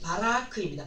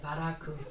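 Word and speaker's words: ברק: 그리고 이제 바락에 대하여서인데요, 이 바락의 히브리식 발음은 바라크입니다. 바라크.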